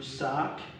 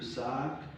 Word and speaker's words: sac: So only the following French words are being pronounced at the end of the word. B, R, C, F, L. So these are the consonants pronounced at the end of the word. So we have club, le sac. Okay, there was a repetition. Le clef, le sel. So these are consonants pronounced at the end of a word.